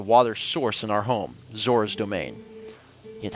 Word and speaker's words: Zoras: The Zorons. You mean the Zoras?